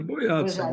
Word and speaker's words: Bojadsen: é Boiadsen, mas Bojadsen, tanto faz.